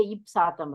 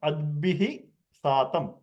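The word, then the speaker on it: अद्भिः सातम्: You cannot say ipsatam, right? No. You pronounce adbihi satam.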